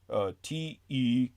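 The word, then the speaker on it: Tkuma: Tekuma. There's no other way to pronounce that. I know it sounds like a Dodge Tacoma, or like, yeah, that's all I can think of is the old Dodge.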